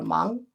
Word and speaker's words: 芒: This máng, pronounced as máng, and this is also pronounced as máng.